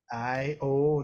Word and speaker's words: Io: you seek I Io Io literally the spelling is IO and the pronunciation is exactly as you think I the father of